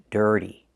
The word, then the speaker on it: dirty: We need this sound in your voice, like burger, dirty. It's a hard word to say, so practice saying it. Dirty. The T makes a fast D in the middle. D, dirty, and make that sound, like in burger.